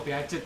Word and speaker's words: Piaget: Oh, Piaget bacanya.